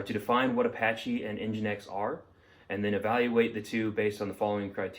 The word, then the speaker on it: nginx: that develops and supports the webserver nginx is pronounced nginx it is a high performance software used for